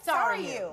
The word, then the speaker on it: Sarayu: Sarayu.